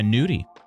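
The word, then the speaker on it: gnudi: lava cake nudy yeah well it's spelled with a it's it's got a g in front of it but yeah nudie um and so it's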